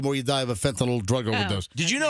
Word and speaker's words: fentanyl: fentanyl, and they say fentanyl. It's Fentanyl. Fentanyl. Fentanyl. It's not NOL. It's not NOL. It's not like Tylenol.